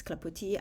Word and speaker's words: Clapoti: I took off the s because you don't pronounce it in French. Um, so that's why it's clapoti.